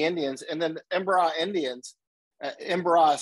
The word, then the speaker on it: Embera: And then Embera Indians, Embera is spelled E-M-B-E-R-A, Embera.